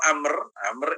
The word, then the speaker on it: Amr: Abdullah bin Amr ini kalau Amr itu tulisannya itu bacanya Amr sambil belajar bahasa Arabnya kalau Umar itu tanpa ada waktu berarti an Abdillah bin Amr Abdullah namanya Amr bacanya itu Amr Amr Bin Ash ini